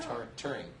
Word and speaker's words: touring: touring. Touring? Like tour, yeah, touring.